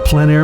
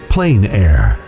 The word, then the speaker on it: plein air: The French pronounce it plein air. Others say plain air. No matter how you say it, there is a huge